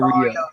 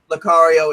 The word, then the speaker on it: Lucario: Lucario is right. What? Lucario is right. Okay. Or it could be Lucario or Lucario. Lucario, because that's how they would pronounce it mostly on the show.